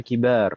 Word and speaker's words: كبار: Tapi kalau setelah mbak itu huruf alif, maka kita baca kibar.